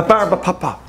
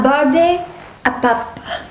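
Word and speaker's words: barbe à papa: A barb a papa. That's, how do you pronounce that? A barbe a papa. Oh, isn't that lovely? Or which, barb a papa.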